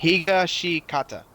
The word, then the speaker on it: Higashikata: Can't pronounce that last fucking name. Thank you. Hishigashikata. Higashikata.